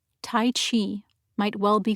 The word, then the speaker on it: qi: looked it up for the chinese q i pronounced chi is the life force